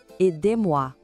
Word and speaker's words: aidez-moi: E olha só que detalhe: o Z de aider gruda na palavra moi e isso cria um som de Z entre as duas. Escuta só, com atenção. Aidez-moi. Vamos repetir juntos? Aidez-moi.